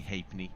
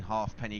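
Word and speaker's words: Halfpenny: Uh so if I do slip into saying half penny guys I am fully aware that that is not the pronunciation.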